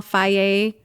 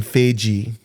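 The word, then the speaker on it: Fage: He takes the small Faye Greek yogurt that's organic or non-GMO. Instead of saying Feiji. Faye.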